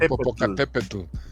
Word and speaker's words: Popocatépetl: Pero está bien chido porque la pronunciación es con el o sea, con la TL, y eso yo creo que a un gringo le da de arrancar las pestañas poder hacerlo, ¿no?